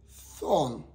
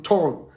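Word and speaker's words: Thun: For English, we say thorn. But my pronouncer away for you, turn.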